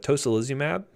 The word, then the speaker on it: tocilizumab: They have tocilizumab. That's how I pronounce it at least, or Actemra.